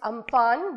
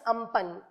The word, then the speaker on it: Amphan: Okay, it's actually some people call it Amphan, but it's the correct pronunciation is Amphan.